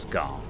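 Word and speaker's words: Skaarj: spaceship was they're called scar it's spelt with a j on the end but it's pronounced scar um and so they've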